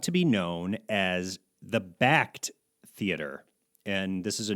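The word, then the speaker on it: Bakkt: changes officially taking place but backed as b-a-k-k-t by the way and already people on Twitter are like how do you say it so we well people on the news have been getting it wrong too they sure have we were kind of laughing we're like we did one Google search and we found out how to say it it's backed we also saw people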